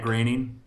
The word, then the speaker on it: Groening: Because like Matt Groening is actually Matt Groening.